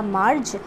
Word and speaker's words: Marge: तो ये MARGE, इसका प्रोनाउंसिएशन होगा मार्ज।